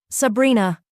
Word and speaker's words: Sabrina: Sabrina. He said it with the Sicilian pronunciation, rolling the R, making it sound like a caress.